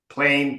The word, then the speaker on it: plain: the n and so you cut the sound of the a off before it's finished plain L better you see a you hear the word a in there if you say it right play plain plane better plain plain plain plain plain plane you need to really stretch it okay but you're going